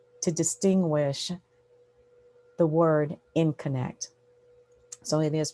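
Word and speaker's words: InConnect: I'm the founder and principal of Info in Connect Consulting, and that's pronounced In Connect.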